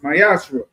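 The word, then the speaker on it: מעשר: Means 10th in Hebrew and is pronounced Mayashra.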